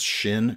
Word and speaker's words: Xin: It was an Ostop Hell design, and that's, I'm not sure if I'm pronouncing this correctly or not, but I think it's Shin Cutlery, X-I-N, and it's a really cool kitchen knife designed by Ostop Hell.